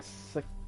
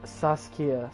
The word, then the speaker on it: Saskia: Helped Iorveth lift a spell that was holding Sakia. You see the name? Saskia.